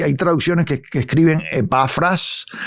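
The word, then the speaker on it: Epafrás: que epafras y y tengo que mencionar epafras con acento en la a eh en la última a eh pero lo he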